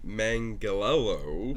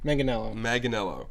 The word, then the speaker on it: Manganiello: John Manganiello. No. Manganiello.